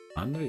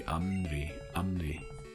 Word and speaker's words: Amry: right at the end anry might actually be Amry it's pronounced like an M sound yeah all right I